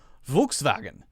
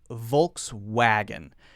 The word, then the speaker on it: Volkswagen: German is something like Volkswagen something like that where the W is pronounced as more like a V sound but Americans just say it as it looks in English spelling which is Volkswagen you know how Americans